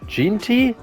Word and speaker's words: Genty: Ginty.